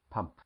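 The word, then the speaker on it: ปั๊ม: and this again come from the English word pump and is pronounced pum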